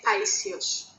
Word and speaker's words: Paisios: No, it's Saint Paisios. Can you spell it?